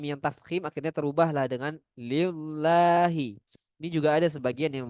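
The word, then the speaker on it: لِلَّهِ: Padahal harusnya tipis. Bacanya seperti lam, huruf L di bahasa Indonesia.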